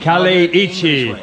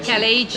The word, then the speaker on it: Kaleiçi: Oh, how do you pronounce it? Kaleiçi. Kaleiçi. Okay. Kaleiçi.